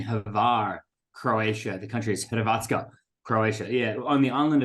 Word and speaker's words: Hrvatska: Croatia, or as the my attempt to name the country locally would be Hrvatska. It's a bit strange the way they spell it, but there we go.